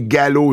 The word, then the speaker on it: galop: La prononciation du mot galop en français est gallo, G-A-L-O. Le P est muet.